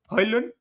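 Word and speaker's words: Højlund: So Hojlund, as he clearly stated, clearly mentioned that D is silent. So I am going with Hojlund.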